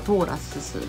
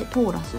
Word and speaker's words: TORRAS: なりますトーラスさん読み方が通らすと読みますね torras でトーラスさんですはいでは多分